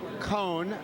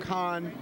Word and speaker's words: Cohn: My name is Cohn. Back when I was known as Kahn. It's a pronunciation issue.